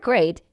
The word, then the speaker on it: great: While the E combination usually produces a long E sound as in meet, seat, and heat, the word great is an exception and is pronounced with a long sound.